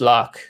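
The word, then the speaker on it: Lough: the way i spell my surname and it's pronounced lock so lock re lock lock iron like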